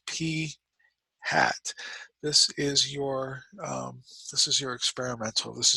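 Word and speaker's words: p̂: Okay, this guy is pronounced P hat.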